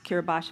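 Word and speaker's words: Kiribati: uh you'll see the country of kirbos it's pronounced Kiros but it's spelled k i r i b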